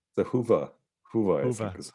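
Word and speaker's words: Hyvä: So just kind of finishing up here, I have to ask about the Hoofa theme. Have you looked at all at the Hoofa, the good Finnish I think theme? it's the Huva.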